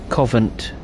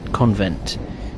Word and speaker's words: Covent Garden: or hear you cry Covent Garden right this one's always interesting because people always get the name wrong it's Covent not convert Convent elephant and Castle again